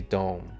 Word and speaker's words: DOM: lay down absolutely insane Laura says it's typically pronounced as individual letters as d-o-m that's price action sucks for too many days in a row I'm going out to longer term option training not going to be liquiding for the bankers all right o is of depth of Market Dom but I still say Dome is it dome or Dom I think it's Dome Super Dome super dumb